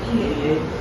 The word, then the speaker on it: il est: The pronunciation is Ile.